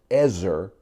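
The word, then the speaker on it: עזר: Hebrew word for helper it's the Hebrew word pronounced Ezzor and it doesn't mean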